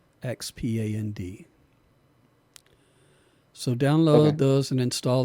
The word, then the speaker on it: Xpand: bundle, and you need another plugin called Expand, spelled with an X, Xpand.